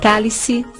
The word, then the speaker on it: cálice: Se dividirmos a palavra cálice em sílabas, perceberemos que se trata de uma palavra proparoxítona, pois a sílaba tônica está na antepenúltima, K. Por isso, recebe acento gráfico.